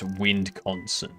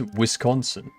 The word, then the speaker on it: Wisconsin: good that's Wisconsin no one says windc Consin it's it's Wisconsin and it's not Wiz pronounced with a z it's an S all right it's a whis